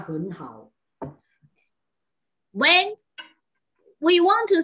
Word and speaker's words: 很好: Ketika nada ketiga dan nada ketiga ketemu, maka depannya jadi nada kedua. Ingat ya, jadi bacanya henhao.